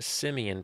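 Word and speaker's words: Semien: go with Marcus Simeon yes that is pronounced Simeon people come on now and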